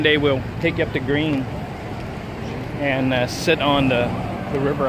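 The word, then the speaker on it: Gruene: at Green dancehall bruna how do you said I just say goon instead of green you're not as Texan we call it green and so the German pronunciation is go ahead tape you know guna there you go she's German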